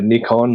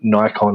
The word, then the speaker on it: Nikon: So a really quick example is you can buy a Nikon or Nikon, as some will pronounce it, a Nikon camera with 4K capability.